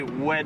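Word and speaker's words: oued: rivière Massa en en en arabe on dit wed Massa ça s'écrit o u e D et il y a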